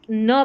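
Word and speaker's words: knee: तो के एन जब भी साथ में दिखे तो आपको न पढ़ देना है।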